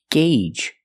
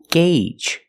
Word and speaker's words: gauge: It's pronounced gauge. That's right. The AU makes a long A sound. Gauge.